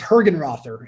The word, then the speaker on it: Hergenrother: pronounce it so um it's uh it's hergen rother it's it's similar to how everybody everyone says it but it's it's her